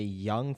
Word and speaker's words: ewe: ewe lamb is a young female sheep. Huh. How do you pronounce it, though? Oops, shoot. Pronunciation. You. It's pronounced just like you.